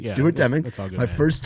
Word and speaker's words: Stuart Deming: Yeah, Stuart Deming. Yeah, Stuart Deming.